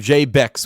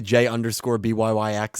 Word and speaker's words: Jay Bix: It's from Jay Bix, which I've been saying his name wrong. Remember I always say J_BYYX? Yes. It's just pronounced Jay Bix, so I've been saying that name wrong.